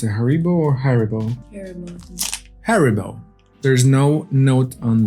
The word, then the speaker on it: Haribo: Next up, we got, how do you pronounce it? Haribo or Haribo? Haribo.